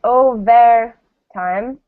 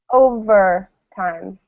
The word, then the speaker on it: overtime: So we don't say overtime, right? We say overtime. It's the neutral vowel again.